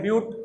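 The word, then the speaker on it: but: Carbon अगर 4 है तो इसको ब्यूट बोलते हैं, लिखते हैं बट लेकिन बोलते हैं ब्यूट, प्रोनाउंसिएशन ब्यूट होता है।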